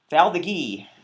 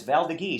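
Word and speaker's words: Valdiguié: Yes, everybody used to pronounce it Val d'Agui until some French people came in my tasting room and said, no, it's Val d'Agui. So I've been pronouncing it that way ever since, and I think it's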